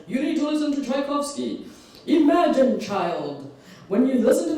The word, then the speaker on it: Tchaikovsky: My father and I used to call it Chelowaski because we just couldn't pronounce it. But we learned, and yeah, I love listening to Tchaikovsky.